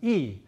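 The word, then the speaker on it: 이: Okay, so in Korean, 8 is pronounced pal and 2 is pronounced e.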